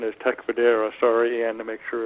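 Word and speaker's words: Tecfidera: a few months ago so the uh the pronunciation is Tech federa sorry and to make sure everybody is aware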